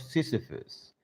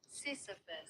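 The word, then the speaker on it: Sisyphus: Camu idea appears in his essay, the myth of Cephus. Cephus. Oh, let me look up the word first to see if I am pronouncing it correctly. Cisphus.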